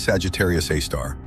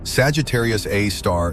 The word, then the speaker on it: Sagittarius A*: Its name is Sagittarius A star, written as Sagittarius A star, pronounced a star.